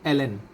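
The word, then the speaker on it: ln: বাই এক্স সমান হচ্ছে লন x plus যোগজীকরণ ধ্রুব plus C আসলে এটার উচ্চারণটা হচ্ছে এল এন লন নয় এটার সঠিক উচ্চারণ হচ্ছে এল এন মনে রাখবেন হয় এল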